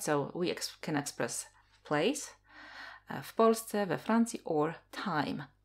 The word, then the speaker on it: w Polsce: Ona mieszka w Polsce. She lives in Poland. Ona mieszka w Polsce. So w Polsce means in Poland. W Polsce, but quickly when we pronounce as w Polsce, w Polsce.